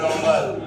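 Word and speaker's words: rumble: আরেকটু জোরে গর্জন হলে রামবেল কি বলা হয় রামবেল উচ্চারণ করো রম্বেল রামবেল মানে গভীর গর্জন করা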